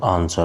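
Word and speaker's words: answer: Next question is वि इज the silent letter in the word आंसर। तो आंसर शब्द में जो कौन सा जो मूक अक्षर है? तो आंसर शब्द में जो मूक अक्षर है वो हमारा डब्ल्यू।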